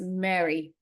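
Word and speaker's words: Miri: about this book and it seems like the pronunciation is Mary right so uh I'll try to remember anyway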